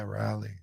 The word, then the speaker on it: Raleigh: I think it's Raleigh. Raleigh. How do you pronounce it? Yeah, Raleigh.